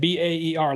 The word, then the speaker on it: Baer: I should have gone from Jason Baer to J Baer spelled like the animal.